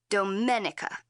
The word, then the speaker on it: Domenica: My name is pronounced in the Italian way, Domenica.